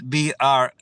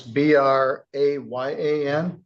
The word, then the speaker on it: Brayan: Well, they spelled my name different, like they say my name was Brian. but it's Brayan.